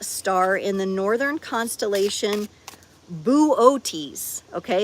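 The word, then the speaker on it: Boötes: Arcturus is a red giant star in the northern constellation Buotis. Okay, it's like B O with the um llad things. T E S buotis cuz I had to look up the pronunciation and it is the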